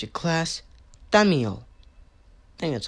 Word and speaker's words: Thaumiel: today this scp-004 - Jay called your class Daniel that's how you pronounce it special containment procedures the entities currently